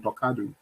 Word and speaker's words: Talkado: the name comes from, I said Talkado. That's the pronunciation, Talkado.